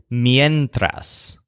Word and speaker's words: mientras: word for while when he says this is mientras with a stressed syllable yen mientras it's interesting to note that